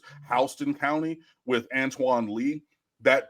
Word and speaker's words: Houston: a friend from Georgia apparently it's HST County it's spelled like Houston Texas but it's HST County with Antoine Lee